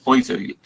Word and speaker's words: Poiseuille: Se escribe Poiseuille, pero se lee Poiseuille.